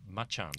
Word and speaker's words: Macan: Just a thought, as a family man, I'm more interested in electric Macan. And we know that's pronounced Machan because we've been corrected on from time to time.